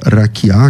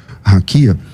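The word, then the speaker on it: רקיע: E essa e essa palavra é raquiá que você por alguma razão pronuncia raquia.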